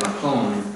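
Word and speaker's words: מקום: So, now, normally if you just said makom, the second syllable would be accented, makom.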